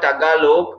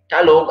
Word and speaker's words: Tagalog: Before pronouncing the word Tagalog, I was saying Talog.